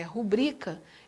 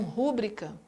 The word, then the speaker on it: rubrica: Mas vocês sabiam que a pronúncia correta é rubrica e não rúbrica? A sílaba tônica não é o R e U.